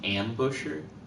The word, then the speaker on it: embouchure: how to pronounce it I thought it was embouchure is it like in Boucher uh then Beth said I noticed Kaylee said it's pronounced like ambusher ambushu thank you kindly